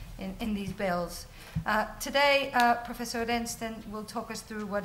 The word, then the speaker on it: Oreszczyn: Our next speaker is Professor Tadj Oreszczyn. I'm told that's how his surname is pronounced, which is as bad as my surname, so I hope he doesn't take offense.